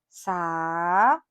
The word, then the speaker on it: saúde: S por exemplo saude saúde é hiato é hiato Qual é a sílaba tônica saúde u o u é tônico é hiato e está sozinho